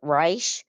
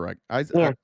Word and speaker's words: Reich: She follows a man by the name of Robert Reich. Yeah. It's spelled like right.